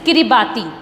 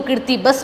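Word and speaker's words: Kiribati: So student, name of that country is किरिबाती। किरिबाती, कई लोग इसको किर्तिबस भी कहते हैं। आप जो प्रोनाउंस करना चाहें अपनी श्रद्धा अनुसार आप प्रोनाउंस करें।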